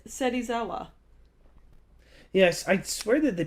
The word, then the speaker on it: Serizawa: they pretty much all just call him Shirazawa. They all. It's, They all. There's screw his no. name There's over. no sh there. It's Serizawa.